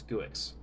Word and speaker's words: Guix: with gooix or Geeks I refuse to call it Geeks that's not how that's not how it's pronounced it's guix that should not be pronounced Geeks it's gooix Nix and gooix both get